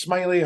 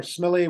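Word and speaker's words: Smellie: left this looks like William's smelling it's actually pronounced Smiley or smelly William smelly he was the printer uh who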